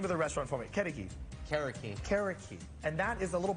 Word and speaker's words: Carriqui: Casio black beans and some brisket and and pronounce the name of the restaurant for me karaki and that is a little bird right it